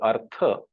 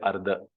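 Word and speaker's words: अर्थ: and I found that when he wanted to say Artha, he would say Ardha. So slowly his Tha was tending towards Dha.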